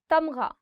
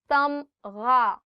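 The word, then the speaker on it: تمغہ: Tamgha, medal. Tamgha, gha. The sound of gha, or the alphabet ghain, is always coming from here. So try it from here. Tamgha.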